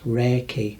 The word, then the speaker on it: Reiki: only when the two KES come together and pronounced Reiki actually represents universal life force energy rake is